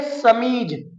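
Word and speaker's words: chemise: ये है समीज।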